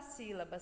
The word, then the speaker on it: sílaba: Então, o si é o som mais forte dessa palavra. Então, essa é a sílaba tônica dessa palavra sílaba, é o si.